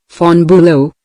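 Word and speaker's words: von Bülow: But von Bulo pronounced Fon Bulo continued in compensation I possess some historical knowledge and perhaps certain qualities useful in politics especially in diplomacy.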